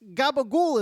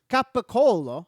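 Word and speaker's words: capicola: It's gabagool is not a thing. Gabagool is not real. It's capicolo.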